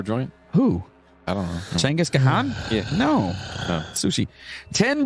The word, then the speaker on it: Genghis Khan: Yeah, it's pronounced like Chenghis or Chenghis. Chengiz Khan, right?